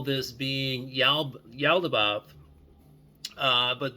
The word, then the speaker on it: Yaldabaoth: And people do call this being Yaldabaoth, but the actual way to pronounce this creator being's name, this demiurge name, um, is Yaldabaoth, like with like the animal eel, the word eel, EEL.